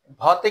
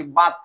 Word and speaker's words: ভাত: যার কারণে অনেকের উচ্চারণ কি হয়, ভাত উচ্চারণ করতে গিয়ে আমাদের অঞ্চল বিশেষে কি বাত কাইছি বলে। তার মানে সে ভ উচ্চারণ করতে গিয়ে জোর না দেওয়ায় ভটাও কি হয়ে গেছে, তার ব হয়ে গেছে।